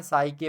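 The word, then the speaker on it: psyche: इसको पढ़ते क्या है साइके पढ़ते हैं ठीक है ये पी यहां पे साइलेंट है च को हम का के आकार में यहां पर पढ़ते हैं च का प्रोनंसिएशन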